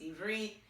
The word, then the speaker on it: Ivrit: Okay, so obviously pronunciation, it's Ivrit.